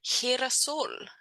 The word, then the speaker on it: girasol: So, for example, soft G is like recoger, to collect or to gather. Gente, people. Girasol, a sunflower.